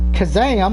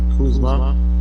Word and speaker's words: Kuzma: Lakers forward Kazam, or Kazum, sorry for mispronouncing the last name, he's out with a sprained ankle. I think it's Kyle Kuzma.